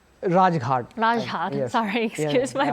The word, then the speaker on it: Rajghat: lay wreath and pay their respect at the Rajat. Am I pronouncing that correctly? Rajghat.